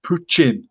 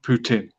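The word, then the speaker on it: Путин: uh alphabet and apparently it's pronounced poochin uh not Putin in Russian anyway that backwards end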